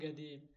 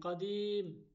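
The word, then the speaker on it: قديم: অর্থ পুরান বা পুরাতন এখানে বলা হয় গেদি গাদির না কাদিম কুম কুম অর্থ দাঁড়াও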